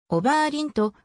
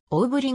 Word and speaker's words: Oberlin: とも表記されるおばあ凛とばにアクセントをつけて発音するのは英語お手の発音に照らせば明らかな間違いである実際は桜と発音される最初の母音にあり日本語で表記するなら大五輪が最も近いだろう 1909 年のキャンパス